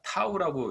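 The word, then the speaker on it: τ: 세율은 타우라고 읽고요.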